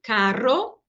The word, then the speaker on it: carro: O caro de uma coisa cara que custa muito, caro, e o carro, coche de passeio, carro, tá? Então, são dois sons diferentes.